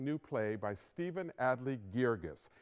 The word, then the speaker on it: Guirgis: crazy this exciting new play by Stephen Adly Girgis it's pronounced vergis a lot of people ask me about that